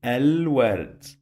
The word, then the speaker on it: الورد: say it like this so I'm gonna say الورد ألف لام that one sounds like A and here this lam sounds like L here we're not gonna drop it we will pronounce it I'll tell you why